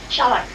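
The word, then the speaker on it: Schalck: S-C-H-A-L-C-K. They spell it Chalk. Chalk. It's a French name.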